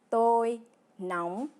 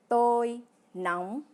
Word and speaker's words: tôi nóng: À l'opposé, pour dire qu'on a chaud, on dit tôi nóng, qui se prononce tôi nóng.